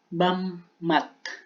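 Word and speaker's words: 밥맛: Next is, bammat. Bammat. Ayan, di ba? Magkasunod yung pa tsaka m, kaya yung bigkas niya is m.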